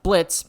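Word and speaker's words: Blitzø: Just like Blitz, the O is silent with IMP.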